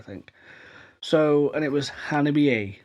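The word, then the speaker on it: Hanabie.: So, and it was Hannibal A, right? I've been calling them Hannibal for the longest time, but it turns out it's Hannibal A. Not Hannibal. It's Hannibal A.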